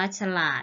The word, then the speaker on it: ฉลาด: อาฉลอง อ่าน ว่า ฉลอง และ ฉลาด อ่าน ว่า ฉลาด และ ถนน อัน ว่า ถนน ถวาย อัน ว่า